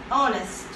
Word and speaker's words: honest: For example, okay, honest. Honest. Its beginning letter is a consonant. As we all know, H is a consonant. But this word gives a vowel sound, right?